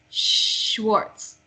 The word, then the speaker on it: Schwartz: So SCH is pronounced like SH. So Schwartz.